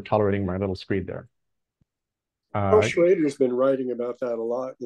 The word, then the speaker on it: Schroeder: Schroeder, but he says Schrader. Pronounce the Schrader.